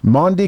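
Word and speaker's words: Maundy: spelled differently it is m a u n d y there's no a in there like Grundy but not but not that's exactly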